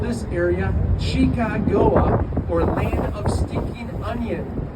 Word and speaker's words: Chicago: Those French visitors or French explorers were pronounced the word Chicago with an SH sound, like champagne or Chicago, hence the name Chicago.